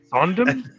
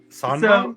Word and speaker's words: Sondheim: Jay, would you like to talk about Oh, yeah, you're gonna have to pronounce that last name. okay. Sondheim? Sondheim?